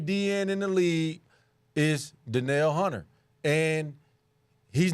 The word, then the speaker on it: Danielle: I'm gonna have to go Daniel Hunter. It's not a Danielle Hunter. Danielle. I'm sorry, I apologize. I butchered your name, man.